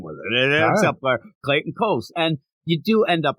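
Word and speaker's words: Clayton Cowles: Yeah, no, I'm telling you, it's spelt like how they say phonetically, it's the store Coles, so I'm going with it. It ends up Clayton Coles.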